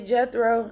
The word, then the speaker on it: Jethro: by amen if you don't know Jethro okay Jethro that's how you pronounce it Jethro was his father-in-law and he